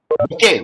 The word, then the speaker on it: bouquet: and flower bucket is bouquet. We should not say bouquet. Bouquet. That is the way of pronunciation. Bouquet. Bouquet. Bouquet. Flower bouquet, but it is silent over there.